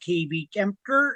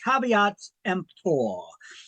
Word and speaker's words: caveat emptor: It's not pronounced KB Kemper. It's pronounced caveat emptor.